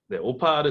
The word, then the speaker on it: OPA: OPA 뭐 프로나운스 이제 발음은 오파를 써서 이제 이거를 좀 손쉽게 썼습니다.